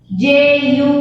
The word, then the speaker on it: jumped: So it will be jumped. Jump. Please don't pronounce it as jumped. No, it is not jumped. It is jumped. Jumped. Not the also. Pronounce T. Jumped.